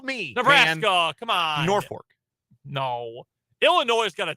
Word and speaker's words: Norfolk: And you pronounce it Norfolk. No. There is no R. I mean, there is, but no second R.